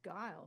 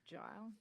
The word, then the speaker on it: Guile: Yeah, it's Guile, not Gile.